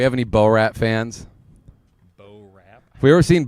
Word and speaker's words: Borat: Have we ever seen Bor Rat? Like never seen Borat. The guy with the gray suit. Borat. Yeah. Borat. Borat. Yeah. I thought you were saying Bor Rat. Borat.